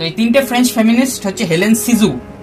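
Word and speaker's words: Hélène Cixous: তিনটে ফেমিনিস্ট কারা তিনটে ফেমিনিস্ট হচ্ছে ফাস্ট হচ্ছে হেলেন সিজু সেকেন্ড হচ্ছে লুসি ইরিগারেট আর থার্ড হচ্ছে ইউলিয়া ক্রিস্টেভা এই তিনটে হচ্ছে ফ্রেঞ্চ ফেমিনিস্ট তো এই তিনটে ফ্রেঞ্চ ফেমিনিস্ট হচ্ছে হেলেন সিজু উচ্চারণ ঠিক করবে লুসে ইরিগারে লুসি আর জুলিয়া নয়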